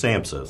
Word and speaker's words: SAMHSA: It's SAMHSA, Substance Abuse Mental Health Services Administration. Okay, that's a bit of a mouthful. Yeah, we have long titles in this business. This report from SAMHSA, the high points, at least for Oklahoma, I